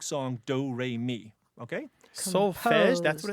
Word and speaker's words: solfège: Yeah, solfège or solfeggio, yes. How do you spell it? I'm probably not saying it all that correctly. S-O-L-F-E with an accent, I believe it's an accent grave, G-E, solfège.